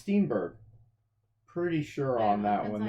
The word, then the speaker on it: Steenburgen: I think it's Steenburgen. Pretty sure on that one there. That's how you say it. Anyway. She is from. It looks fun. Steenburgen.